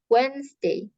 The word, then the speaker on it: Wednesday: Ya, ini tulisannya Wednesday, tapi cara bacanya Wednesday, Thursday, Wednesday.